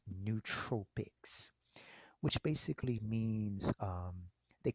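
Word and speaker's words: nootropics: Tropics n oo Tropics spelled the same way as Tropic same spelling n o o t Ora o p i CS but it's pronounced neut Tropics which basically means um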